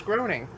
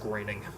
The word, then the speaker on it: Groening: fox wait is it greening i thought it was groaning no it's grating then why is people say grounding i don't know how that works but yeah apparently it's pronounced graining all right you like